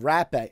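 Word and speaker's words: rapé: us to call the hopper yeah i think that is the because he's probably brazilian and the rs they pronounce h yes and it's funny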